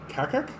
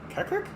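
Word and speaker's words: Qaqqaq: It's got to be pronounced like that, right? Kakak? Kakak? Q-A-Q-Q-A-Q. Kakak.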